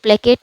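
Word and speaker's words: placate: फिर है प्लेकेट, ये प्लेकेट है, मैंने ऊपर प्लेसेट बोल दिया लेकिन ये जो इसकी प्रोनाउंसिएशन है डेट इज़ प्लेकेट।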